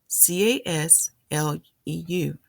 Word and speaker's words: Kislev: After it was purified, a new altar was installed and dedicated on Kislev 25th. Another way to pronounce it is Kislev 25th, Casleu.